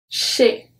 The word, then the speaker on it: chez: Well, we don't pronounce it. The last one of the consonant is the Z. We have le nez, chez, chez.